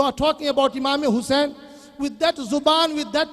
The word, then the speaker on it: हुसैन: He becomes Yazid but when the same people make a mistake in pronouncing the name of हजरत इमाम हुसैन हुसैन becomes हसीन हुसैन बिक you know why because they don't put पेश एंड ज़बर ज़ेर।